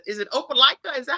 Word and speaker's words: Opelika: I saw on your bio that it said, is it Opelika? Is that how you pronounce it?